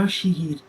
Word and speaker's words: Yoshihide: not how you read those letters. 요시대라고 읽는 거야. Yoshihide. That's how you say it.